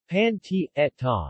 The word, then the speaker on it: pancetta: pancetta Italian pronunciation panty Etta is an Italian bacon